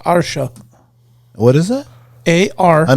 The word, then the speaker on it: Artio: It's ARTIO, but it's pronounced Otter Show.